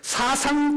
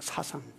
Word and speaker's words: 사생: 네 번째, 사상 결단하지 말라. 발음이 이상하네요. 사생. 예, 사생. 이게 제 충청도 말씨라 그러니까 이해해 주시길 바랍니다.